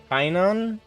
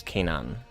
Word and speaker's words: Canaan: Kainan? Or Canaan? Oh, okay. So it's Canaan. Gotcha.